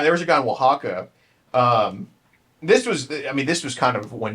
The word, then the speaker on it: Oaxaca: Oaxaca?